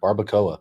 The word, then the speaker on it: barbacoa: Barbacoa. What? How do you say that? Barbacoa.